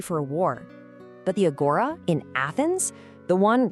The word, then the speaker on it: agora: Well, the word itself, it's pronounced agora, is pretty simple.